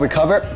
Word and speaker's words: Recuva: Now, just as a side note, the app may be called Recover, but it's spelled Recuva.